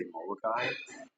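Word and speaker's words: Molokaʻi: just say moai there's if you look at the way it's spelled it's m o l o a a okina I so there's supposed to be a pause in between the A and the I say it right say most locals around here will say right there like a uh a pause between uh the first eye and the second eye but I I actually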